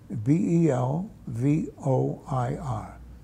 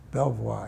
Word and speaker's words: Belvoir: And how do you spell that? B E L V O I R. Belvoir.